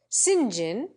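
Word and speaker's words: St John: themselves have pools for Howells cylinder for Silesia Sinjin Fort st.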